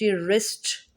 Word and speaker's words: wrist: उसके बाद आर होगा, जैसे WRONG, wrong, WRIST, रिस्ट, WRITE राइट, WROTE रॉट, राइट की सेकेंड फॉर्म रॉट है, form of verb rot, राइट रॉट रॉट, राइट रॉट रिटन।